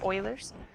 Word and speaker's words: Euler: it we did not cover Euler's method actually pronounced oh I L e RS Euler's I know like Euler's yeah no we didn't